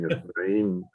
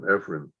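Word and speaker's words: Efraín: I just got after my coordinator for not pronouncing Efrain Torres's name correctly. She called him Efren.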